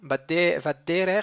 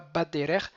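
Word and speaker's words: בַדָּרֶךְ: Vadderer, il est milleael. Alors pourquoi il n'y a pas de dagesh dans le bet? C'est vadderer et pas badderer.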